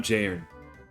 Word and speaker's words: Jon: I'm Jon the second augur. Please pronounce the N.